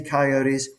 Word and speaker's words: coyote: He's getting to see coyotes. He wants to tell Americans how we pronounce the name. The animal is called a coyote. and he does the three syllable uh pronunciation of it.